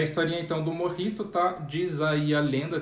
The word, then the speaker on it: mojito: a o mojito então lembrando que é morri tu tá no emojis para pensar do j é porque a palavra espanhola tá bom a gente pronuncia com um rico e não como mojito o coquetel aí que